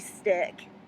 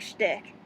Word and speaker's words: shtick: Almost kind of like an MIB stick. Yeah. Not stick, shtick.